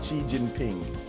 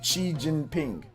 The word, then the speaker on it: Xi Jinping: Xi Jinping, is that how you pronounce the Chinese president? Xi Jinping? Okay, Xi Jinping.